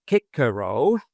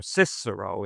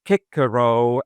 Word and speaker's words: Cicero: So you could have a reader with appropriate commentary and big slabs of kickaro in the correct pronunciation or cicero if you're not quite correct. Kikaro and then you could have salast.